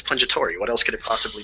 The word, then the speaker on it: Pungitore: Is it Pungitore? Is that how you pronounce it? Yeah, you just said my name perfectly on your first try, man.